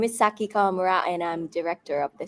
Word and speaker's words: Saki Kawamura: Yes, my name is Saki Kamura and I'm director of the show.